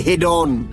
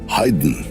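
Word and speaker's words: Haydn: এই হেডন, মোজাট, ভিটভেন সব বড় বড় সুরকারদের জীবনী রয়েছে। আমি এসব সুরকারদের রচনা শুনিনি বটে। কিন্তু এদের নামের উচ্চারণগুলো অন্তত আমার জানা আছে। কিন্তু আপনার নেই। কিরকম? হাইড, মজাদ, এই হল আসল উচ্চারণ।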